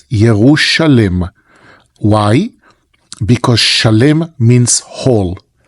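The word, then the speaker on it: ירושלים: Yerushalem, it's the proper pronunciation for Jerusalem. Yerushalem, that's the way that it appears in the Bible. In Israel, we used to say in the Holy Land, we say Yerushalayim.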